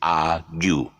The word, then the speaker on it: argue: you and vogue you, we thought that argue would be then arg. Okay, so it's not. It's argue.